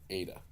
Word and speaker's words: eta: is the vowel 8o ada and pronounce that like a as in hey a and this is one